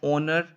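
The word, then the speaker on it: honour: Next question number fourth बात करें तो आई considered it dash ओनर to meet you. तो यहाँ पे एच क्या है, हमारा साइलेंट है, तो ओनर की आवाज़ आ रही है, ओ से आ रही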